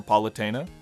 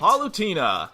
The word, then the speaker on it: Palutena: an error where people begged for politana they couldn't even pronounce her name right palutena let's not talk about